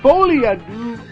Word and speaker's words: Folie à deux: Folie à deux.